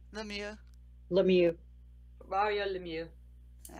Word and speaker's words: Lemieux: Lemieux.